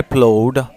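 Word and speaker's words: plough: water my field was god's earth wherever i plowed it was my field here the word p-l-o-u-g-h-e-d is pronounced blood p l o u g h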